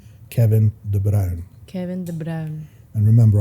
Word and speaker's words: Kevin De Bruyne: yeah Kevin De bruyne they they mispronounce his name that's why I sent you that that thing the other day of him actually pronouncing his name Kevin de brown Kevin De Brown and